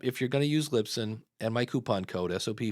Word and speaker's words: Libsyn: towards lip sync um it's actually Lisbon actually I said it wrong again that's the funny part about it these are the two you hear Lisbon and Lip Sync It's libsyn in fact on their new